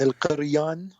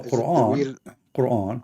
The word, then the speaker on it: Quran: Is it Al-Qur'an? No, Quran. Quran.